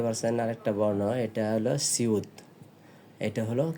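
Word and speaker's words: 시옷: উপরে উঠে চলে গেছে, এটা কি বিউপ, এটাকে উচ্চারণ হবে বিউপ। এবার এখানে দেখতে পাচ্ছেন আরেকটা বর্ণ, এটা হলো সিউত, এটা হলো কি সিউত।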